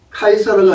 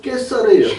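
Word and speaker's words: Καίσαρ: 카이사르가 아니고 깨사르예요.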